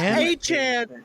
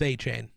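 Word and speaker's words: Achane: so it's A-Chain. You pronounced your name incorrectly.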